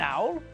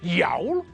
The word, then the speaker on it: owl: An owl, an eagle, and a crow. Owl begins with a vowel, and it's not pronounced as yowl.